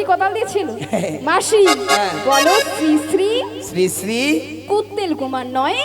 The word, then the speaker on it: শ্রী শ্রী: ওটা ছিড়ি ছিড়ি নয়, বলো শ্রী শ্রী কি?